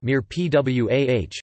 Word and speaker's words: mirepoix: A mirepoix, Mirepoix, French pronunciation, Mirepoix, is a flavor base made from